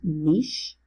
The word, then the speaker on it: niche: In just a second, before we get to that, let's talk about, people pronounce this two ways, either niche or niche. It's technically pronounced niche, but that is the organism's role in the environment.